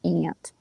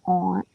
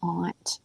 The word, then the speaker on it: aunt: pronunciation because you see if you say aloud the word t-a-u-n-t you pronounce it i'm sure taunt right because it has a u in it they stuck that in